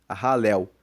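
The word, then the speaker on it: Halel: são os salmos de ralel. Ralel, você viu na capa do vídeo, se escreve H A L E L.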